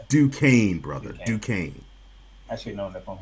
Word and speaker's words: Duquesne: It's Duquesne, brother. Duquesne. Duquesne. I should have known that from hearing Tone this whole time. My bad. Duquesne. I forgot the S is silent.